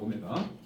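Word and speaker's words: ω: W가 아니고 오메가 제가 그래서 어 149쪽에 방정식 x제곱 1의 허은 오메가라고 씁시다. 쓰는 거는 w처럼 쓰는데 읽을 때 오메가야. 알겠죠? W라고 읽으면은 촌스럽다.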